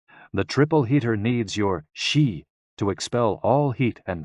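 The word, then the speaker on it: 嘻: And XI, pronounced like shi, which connects the whole body.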